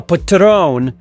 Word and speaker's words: Patreon: the description to become a a Patrone okay that's the proper way to say it get it right and hey hit me